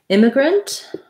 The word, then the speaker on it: immigrant: question about immigrant migrant has first syllable stress so it sounds like the word in but with an m m um and then so you can either do immigrant with an if sound or imma grant with a schwa sound i think i